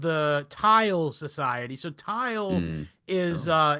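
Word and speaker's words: Thule: So tile is uh it's a it's it's a place depicted by Plato initially if I'm not mistaken. Farthest tile which is spelled t h u l e.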